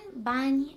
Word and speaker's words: bani: When it appears at the end of words, I is not pronounced fully, but as a very faint sound, especially when it's preceded by a consonant. I is almost silent. You know it's there because the consonant preceding it sounds softer than it does when there's no I following.